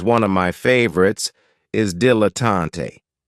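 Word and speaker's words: dilettante: of my favorites is diletante this word has three syllables and there's kind of like a stress on the first and last syllable D L A tante the reason I say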